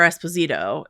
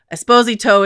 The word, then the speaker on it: Esposito: And then like uh Jennifer Esposito is an actress who is Latina. So so Esposito is the Italian pronunciation.